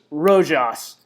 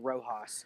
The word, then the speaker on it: Rojas: to um and coach of the year luis rojos new york mets hey it's pronounced rojas get out new york met okay first rule